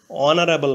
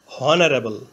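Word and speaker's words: honourable: ম্যান অনারেবল অর্থ মর্যাদাবান এখানে অনারাবল এর প্রথমে এইচ কনসোনেন্ট এইচ এর উচ্চারণ হয় বাংলা হয় এর মত প্রথমে এইচ ধরে উচ্চারণ করলে হয় হনারেবল কিন্তু এইচ এর উচ্চারণ না হয়ে ভাওয়েল ও থেকে উচ্চারণ শুরু হয়েছে অনারাবল এইচ এর উচ্চারণ অন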